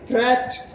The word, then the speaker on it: threat: They rhyme with, see, meat rhymes with sheet, whereas great rhymes with straight, and threat rhymes with debt.